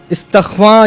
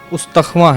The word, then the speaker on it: استخواں: تلفظ ہے اس کا۔ اور استخواں یہ تلفظ نہیں ہے، استخواں ہے، جس کے معنی ڈھانچے